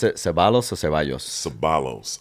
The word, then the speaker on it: Ceballos: Ceballos. Ceballos. I pronounce it that way because Pops was Hawaiian.